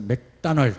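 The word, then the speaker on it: McDonald's: 근데 우리는 맥도날드 그러잖아요. 이 사람들 맥다날드 그러더라. 그래서 오를 무조건 발음하면 되는구나. 오일이 아니라 아일. 맥다날드.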